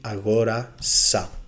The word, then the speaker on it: αγόρασα: bought, you will say αγόρασα. Λοιπόν, before we start checking the word endings, it's very important to say that the stress on the simple past moves one syllable to the left, always.